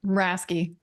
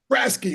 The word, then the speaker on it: Raske: And how would you pronounce that last name? I don't want to butcher it. Rasky. Raske.